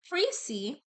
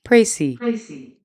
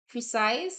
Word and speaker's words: précis: Preci looks like precise, and of course, you always want your preci to be precise, but the words are pronounced differently. Preci comes from the French word precis. So say it like this: preci. You can accent the other syllable preci. Okay, the S is only pronounced if the word is plural, precis.